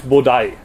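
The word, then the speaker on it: 菩提: And those words are now pronounced in Japanese Bodai.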